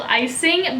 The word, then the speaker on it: Icing: pretty matte blue shade called Icing, but it's spelled like your eye and then sing.